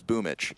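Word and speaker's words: boombl4: We're just mispronouncing it. You know, because apparently a boom BL4 is boomich.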